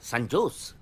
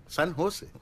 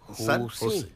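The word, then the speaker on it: San José: ও বাবা, সান জোস? সান হোসে। সান হোসে, হ্যাঁ সান হোসে। জের উচ্চারণটা এইচ এর মতো হবে, সান হোসে।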